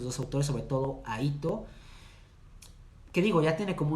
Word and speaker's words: Hito: Se escribe H-I-T-O, H-I-T-O, Stellar, Ito Stellar.